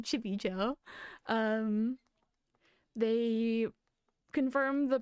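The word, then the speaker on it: Chimecho: they did Chimeco cuz some like maniacs out there pronounce it Chimmy Cho. I I found out somehow they pronounce it Chibicho.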